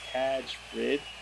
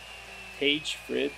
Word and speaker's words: Tage Frid: I want to say his name's Taj Frid. Tage Frid. I always pronounce it wrong.